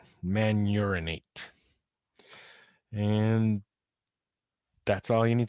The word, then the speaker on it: mannuronate: And kind of the conjugate base, careful how you say that one. You might need to go to the restroom if you don't say it right. Mannuronate.